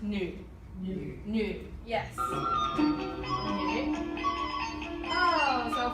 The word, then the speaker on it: 女: So this is the Chinese word for female, and it's pronounced nu.